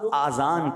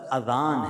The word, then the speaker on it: اذان: بعض لوگ آذان کہتے ہیں، یاد رہے پہلے اذان کہتے کس طرح ہے، اس کا تلفظ سے بچ لیں. آذان اذن کی جمع ہے، اذن کہتے کان کو، یہ آذان نہیں ہے، یہ لفظ اذان ہے، ٹھیک ہے.